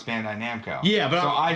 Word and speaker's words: Bandai Namco: Now it's Bandai Namco. Yeah, but so I say Bando Namkai.